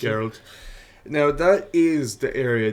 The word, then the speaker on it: Geralt: I don't know how to pronounce it. Geralt. Now that is the area that I think they can fuck up in, because The Witcher is Geralt.